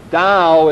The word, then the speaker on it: Tao: a little bit he's a follower of Taoism Dow is spelled ta old you do not pronounce that